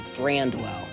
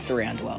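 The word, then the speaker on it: Thranduil: I think there there would be an elven bundle that would have Eland, Galadria, and Thandwell. I think threeandwell is how you say his name.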